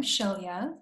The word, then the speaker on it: Shailia: So I'm Shailia, and it's an unusual name. A lot of people don't know how to pronounce it. It's like shell on the beach with the German ya on the end.